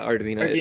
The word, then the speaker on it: Arduino: Yeah, Arduino. Like it's Italian, I think.